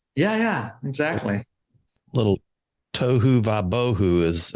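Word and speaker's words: tohu va-vohu: A little tohu vabohu is how they say it.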